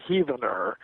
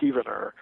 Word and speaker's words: Heavener: the 20th century from Heavener, spelled like heaven, but I think it's pronounced Heavener, Oklahoma. Maybe I've got the pronunciation wrong. Forgive me if anybody's from there. But once I pronounced it Heavener, and somebody told me it's Heavener, Oklahoma.